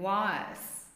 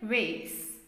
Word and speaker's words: vase: That is the British pronunciation, vase. American pronunciation, vase.